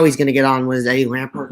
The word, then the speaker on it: Lampert: Or am I saying his name wrong? It's Eddie Lampert. Eddie Lampert.